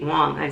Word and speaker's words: Wong: years I saw Michelle Wang she uh Wong that's how you pronounce it she did it